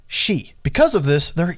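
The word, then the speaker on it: 四: even cursed in japan four in japanese can be pronounced the same way as death shi because of this there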